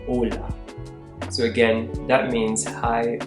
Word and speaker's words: hola: equivalent to this is Ola Ola note that the H here is silent so instead of saying hola you say Ola so again that means